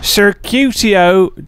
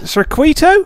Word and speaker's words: Circuito: Circuitio de Jerez. Circuitio de Jerez. Circuito? De Jerez. Actually, I was saying it wrong. Circuito.